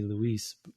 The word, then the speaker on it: Luis: It should be Luis. Of course. But it's spelled that way, right? And right. And even if it were Lewis, if you're in Europe, it would be Louis.